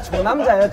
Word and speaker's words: 조남자: 아니 존남자가 아니라 조남자예요. 조남자.